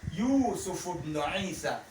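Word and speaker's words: يوسفُ بنُ عيسى: But if you want to pronounce it together, it's going to be Yusufubnu, Yusufubnu Isa, Yusufubnu Isa.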